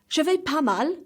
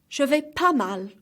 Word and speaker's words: je vais pas mal: Je vais pas mal. As you can see, the S is silent. The two S at vais and pas. One more time. Je vais pas mal.